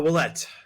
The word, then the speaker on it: Ouellette: on man great to chat with you olette French name right yep how how do we pronounce it uh wette yep wette okay and is the American